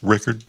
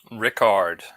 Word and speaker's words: Rickard: Is it pronounced Rickard? Ricard. No, Ricard. Oh, like Oh, like um like Captain Picard or um there's a French a strange French liquor called uh Ricard.